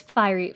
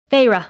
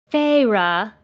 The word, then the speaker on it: Feyre: her wide eyes on me and said please fiery oh what was the name again katricia told me feyre okay please feyre she drew out the two